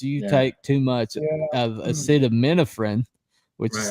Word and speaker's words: acetaminophen: And now they all have like liver shutting down because you take too much of acetaminophen, which is how that's pronounced by the way, that it's going to damage your liver, which is also on all these bottles.